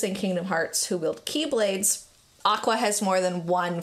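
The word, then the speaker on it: χ-blade: Which I need to call it the X Keyblade, only because if I keep saying Keyblade, even though that's how it's pronounced, I'm worried people will think I'm talking about, like, K-E-Y.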